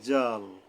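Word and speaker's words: ذال: জিম এরপরে আসেন জাল জালের উচ্চারণটা কেমন হবে এটা নরম ভাবে হবে এখন উচ্চারণ স্থানটা কোথায় সেটা আমাদের জানা দরকার এর উচ্চারণটা হলো সামনের উপরে দুই দাঁতের আঘাত থেকে নরম ভাবে হবে জাল জাল জাল এখন যদি জাল কইয়া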